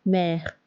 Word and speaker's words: mère: L'accent grave is placed on A, E, U and sounds like E on E. E, like mère.